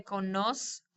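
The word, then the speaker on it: conozco: con we would say konos the Z is pronounced like an s in Spain they'd say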